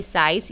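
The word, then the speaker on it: size: एस आई सी ई साइज। यह magic ई pattern है। ई साइलेंट है जो एंड में आ रहा है। और इसी की वजह से हम आई को लॉन्ग पढ़ रहे हैं। So exercise.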